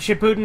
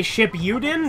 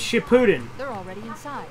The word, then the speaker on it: Shippuden: really good series but Shippuden is how you say it what does he say ship you din because that's it's Shippuden okay people got mad at